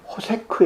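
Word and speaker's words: חשך: 원어 성경을 본다는 거예요 캄캄한 것은 히브리 발음으로는 호세 크 에요 그쵸 호세 크고 어두운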